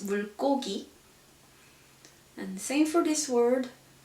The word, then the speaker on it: 물고기: So in this case, it's pronounced like 물고기. We don't say 물고기, but it's 물고기.